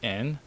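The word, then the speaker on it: 円: money which means money so yen is the currency which actually they mostly pronounce as in so they drop the Y not mostly just um always yeah always so they actually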